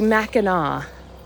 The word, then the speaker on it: Mackinac: I like our progressive learning on how to pronounce that word related to the bridge in Michigan. So it would be Mackinac.